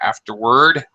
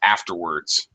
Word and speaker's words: afterward: Afterward. Often, by the way, you notice the S in parentheses. Often this is pronounced afterwards. And either version is usually acceptable, interchangeable.